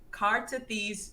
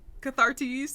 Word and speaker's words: Cathartes: this right this time, with the Cartathes pirate ships. Did I say it right? Cathartes, yeah. Cathartes? Yeah. Cathartes? Yeah. Okay, so this episode opens up with the Cathartes pirates.